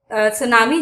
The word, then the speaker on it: tsunami: It's pronounced, इसका जो तलफ्फुज है वो इस तरह है सोनामी, एज द टी is silent, क्योंकि इसमें टी जो है वो साइलेंट है।